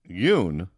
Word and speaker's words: Duong: Wait, how does she pronounce it? Yoon. Duong.